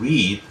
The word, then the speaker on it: read: uma mudança na pronúncia porque o passado e o particípio de to read se lê read é exatamente igual que a cor vermelha né é necessário que